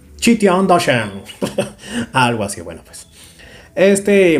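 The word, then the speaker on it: 齐天大圣: A ver, si no me equivoco, yo le pronunciaba como Kitian Dashen, como cualquier, creo que, persona que es latino, ¿no? Algo así, lo pronunciaría de esa forma, aunque no hay una U ahí para decir Kitian. Pero si no me equivoco, en Google una vez lo averigüé y eso se pronuncia como Chi. Chitian Dashen.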